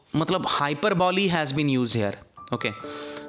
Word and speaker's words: hyperbole: कई इसको हाइपर ball भी बोलते हैं, but exact pronunciation is हाइपरबॉली, okay.